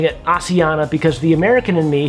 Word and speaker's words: Asiana: But having flown Asiana a few times and listening to the cabin